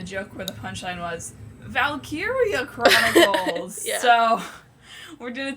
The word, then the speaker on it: Valkyria: It was going to be easier than a joke where the punchline was Valkyria Chronicles.